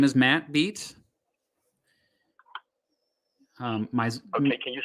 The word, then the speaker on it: Beat: my name is matt beat um can you spell that can you spell the last name please yeah it's b-e-a-t like be the drum okay and then your